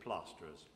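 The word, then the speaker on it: Plaisterers: says placer is on the paper but we pronounce it plasterers particular thanks go to frontier agriculture thank you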